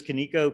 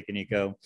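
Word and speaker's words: Kaniko: lot of ways finally there's konico canico or canon code depending on how you say it i say can eco is an open source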